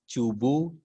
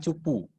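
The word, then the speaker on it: 中部: kata itu pertama Naka cubu cusing cubu bukan cupu cubu cusing n di belakang dibaca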